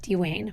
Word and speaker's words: Dwayne: And yes, I'm pronouncing that correctly, the way that he pronounces it, Dwayne.